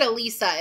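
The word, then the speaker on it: Allysa: a-l-l-y-s-a ali lisa elisa they say it alisa in the in the audio book but the spelling is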